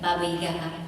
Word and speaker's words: Baba Yaga: Baba Yaga.